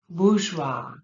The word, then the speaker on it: bourgeois: Bourgeois, bourgeois.